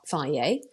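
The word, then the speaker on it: Fage: So there is a brand um called Fier. It's spelled F A G E, but you can get versions of it in Little and Aldi.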